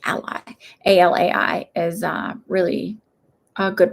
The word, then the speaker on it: Alai: And you like, again, that guy Joseph Ali, ALAI, ally is how you say it, ally.